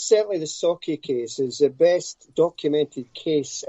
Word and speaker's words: Sauchie: literally just released a new book called the saucy poltergeist have i said that right malcolm um no it's actually sake so if you break up an s-a-w you saw then key k-e-y sake that's just that's how you pronounce it okay